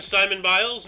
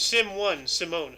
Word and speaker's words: Simone Biles: So, and then Simon Biles, 1997, or Simone Biles, I don't know. A U.S. gymnast, Olympic gold floor team, vault all-around 2016. Born in Columbus, Ohio. Hey. You said it right the second time.